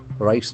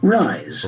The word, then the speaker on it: rise: Rise is a very important word in terms of the pronunciation. Rise. Rise. We can see that letter S has got Z sound.